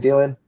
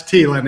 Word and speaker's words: Thielen: The last name Thielen? Yeah, it's Thielen. H is silent. Thielen.